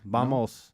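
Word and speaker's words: vamos: like I look I I see it spelled VA it's clearly VA and they were like no no it's ba bamos no bamos it's bamos and and say it like this coach bamos bamos bamos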